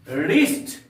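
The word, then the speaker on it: wrist: हैं हम लोग क्या रिस्ट डब्लू आर आई एस टी रिस्ट का अर्थ होता है कलाई यहां पर भी हम लोग क्या करेंगे डब्लू का उच्चारण नहीं करेंगे डब्लू आर ओ एन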